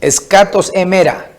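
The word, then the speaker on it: ἐσχάτων ἡμερῶν: Porque ustedes saben esto primero, que en los últimos días, escatos emera, es de esa forma que se pronuncia, vendrán burlones con su burla, procediendo según sus propios deseos.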